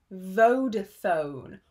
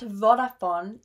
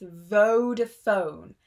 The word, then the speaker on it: Vodafone: This is pronounced Vodafone. All the vowels are very long, not Vodafone, it's Vodafone, Vodafone, Vodafone.